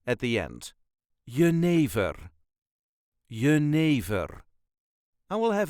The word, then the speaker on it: jenever: it is y yver there is a very slight emphasis on the second syllable y ne ne all